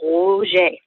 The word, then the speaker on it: Roger: And his name, it looks like it's pronounced Patrick Roger. And in French, of course, it's Patrick Roger.